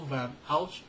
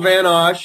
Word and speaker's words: Osch: yourself to my audience well you did pretty well it's van osh and uh my webs